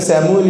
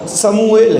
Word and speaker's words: سموئیل: ہے, ہم تو کہتے سیموئیل ہے, لیکن صحیح تلفظ اس کا سموئیل ہے, سموئیل. تو یہ اس کا صحیح تلفظ ہے, لیکن سیموئیل بھی ہم کہتے ہیں.